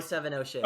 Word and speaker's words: 070 Shake: don't know how to say, but is it 070 Shake? Is that how she pronounces it? 070 Shake? 070 Shake.